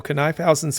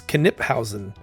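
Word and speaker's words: Knyphausen: So, Kifhousen's coming after us again. I've heard it pronounced on Kim Bird's documentary. It was Caniphousen. So maybe that's what it is.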